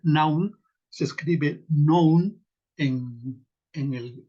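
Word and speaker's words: νοῦς: la traducción de la palabra griega naum así se se pronunciaría naum se escribe Nou en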